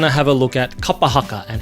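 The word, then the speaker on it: kapa haka: So if you can focus more on the vowel sounds being consistent, I think you can really start to be able to pull that word together and say it properly. Kapahaka.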